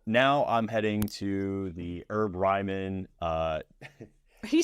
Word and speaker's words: Herb Ryman: I'm heading to the herb Ryman uh you say herb yeah I'm I'm British so we pronounce the h they call it the